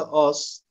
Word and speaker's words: ase: Diğer kelimemiz de az kelimesi. Yani yazılışı ase şeklinde ama okunuşu az.